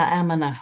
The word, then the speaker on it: Amina: correctly pronounce your name Amina it rhymes with yeah stamina Amina okay got it thank